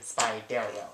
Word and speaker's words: Spidero: I thought it was Spidero, but I figured out it's, you pronounce it Spidero.